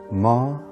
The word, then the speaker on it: Maranatha: If you choose that word, say it as 4 syllables: Ma-ra-na-tha.